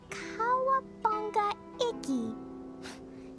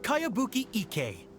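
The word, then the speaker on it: Kayabuki Ikkei: one i've never heard of it hmm by cowabunga icky your mia this is a really strange name who's this cowabunga it's pronounced kaiabuki ek that would be me outlander brigade is a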